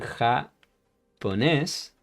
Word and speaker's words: japonés: It's like when we laugh in Spanish, we say like ja, ja, ja, ja, ja. Remember that. Hablamos en japonés.